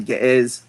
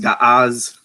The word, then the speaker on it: Ge'ez: then he started making appeals to Ge'ez, right, which he mispronounced Ga'az.